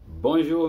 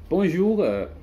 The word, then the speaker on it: bonjour: Bonjour, faire attention à la prononciation de le R.